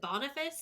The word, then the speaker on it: Boniface: pope um but Pope is it Boniface is that how you pronounce that yeah um it looks like bony face but I know it